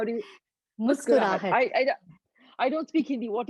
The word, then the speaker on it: Muskurahat: Muskurahat. How do you Muskurahat? Muskurahat.